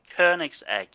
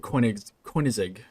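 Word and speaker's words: Koenigsegg: person or however the you pronounce this keg coin huh K try try K's egg K's egg yeah okay there you go K always pronounce it coin coig but that that's that's not even close so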